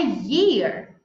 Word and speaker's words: year: Mas quando a gente tem que pronunciar a palavra ano, a gente pronuncia ear, do jeito que a gente pronuncia orelha. Orelha é ear, mas ano é year.